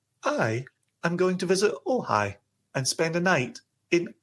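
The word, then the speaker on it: Ojai: Uh, O J A I am going to visit Ohhigh and spend a night in Ohhigh.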